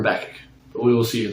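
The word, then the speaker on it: Habakkuk: be picking up with habach soon or as some people pronounce them habac I prefer habach but we will see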